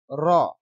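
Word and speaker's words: ر: জাল জাল জাল আচ্ছা র র উচ্চারণ মোটা করে পড়তে হবে মোটা মানে পুর র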